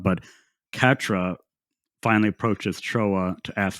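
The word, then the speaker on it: Quatre: But Catra. But the way it's like spelled is like Quotra. But Catra finally approaches Troa to ask for forgiveness as Quotra and Noin fight the new faction, White Fang.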